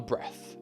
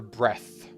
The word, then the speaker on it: breath: Breath without the final e will be short e and the breath.